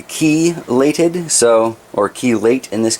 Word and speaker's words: chelated: oh speaking about iron is it chelated iron is a chi legged iron nobody knows for sure but I was told by a few different people to pronounce it as ki lated so or chelate in